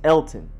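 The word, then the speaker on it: Elgton: I was lost but in fact is Elton you just ignore the G Elton Jenkins next up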